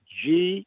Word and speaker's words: Gerow: First of all, a lot of folks don't know when they hear Gerow how it's spelled, but it's Gerow, Gerow.